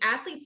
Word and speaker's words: Athleats: It's Athleats Nutrition, but it's spelled ATHLEATS, like eats, Athleats Nutrition.